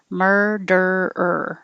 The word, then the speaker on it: murderer: moment murderer so when i say myrrh my tongue comes back for the er and then i hold it in that same position and make er noise again so it's murderer keep your tongue curled back in the r position the whole time murderer improvisation improvisation and